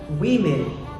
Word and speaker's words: women: ใช่ เล่น นะ ครับ Women อ่าน ว่า สม วิ่ง ไป อีก นะ ครับ เป็น ผู้ หญิง หลาย